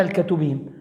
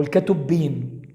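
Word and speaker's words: כתובים: التالتة بقى حاجة اسمها الكتوبيم أو الكتب، بالعبري اسمها الكتوبيم أو الكتبيم أو الهتبيم، معلش هو العبري فيه حروف بتتنطق بأكتر من شكل.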